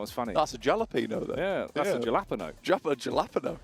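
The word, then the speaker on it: jalapeño: is a a alapo jalapeno well no you got to say it as it's spelled come on otherwise it's not as funny that's a jalapeno though yeah that's a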